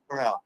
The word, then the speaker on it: Carell: Carell.